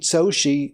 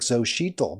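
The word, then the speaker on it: Xóchitl: She beat Xochitl, that's pronounced, I thought it's like Xochitl, but it's Xochitl Galvez, who was a self-made woman, started a tech company.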